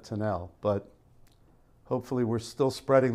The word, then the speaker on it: Tunnell: who he is and pronounce his name tunnel instead of tinnell but hopefully we're still